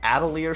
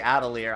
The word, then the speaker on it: Atelier: Outerhaven that apparently has one, I am reviewing Atelier Chalet Plus. So I'm working on that, and hopefully that'll be up soon. Atelier, you mean? It's an RPG. It's a JRPG, right? In the game they say Atelier.